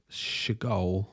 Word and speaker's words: Seagal: Apparently, Stephen's name is actually pronounced Seagal, like the bird, but changed it when he saw an art exhibit by Mark Seagal and thought the name sounded cool.